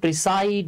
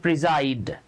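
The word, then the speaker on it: preside: commence মানেও শুরু করা আমরা অনেকে এটাকে প্রিসাইড বলি এ উচ্চারণ প্রিজাইড প্রিসাইড মজার ব্যাপার হচ্ছে আপনি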